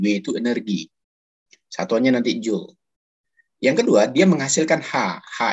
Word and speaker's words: Joule: biolistrik adalah oblong bisanya Joule ya bacanya julya Apa itu hukum Joule